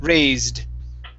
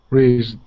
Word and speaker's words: raised: Give me a D sound here at the end. Okay, raised. Raised.